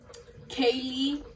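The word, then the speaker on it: ceilidh: word for church um kaylee it's pronounced and uh it's a scots word for party and they have 421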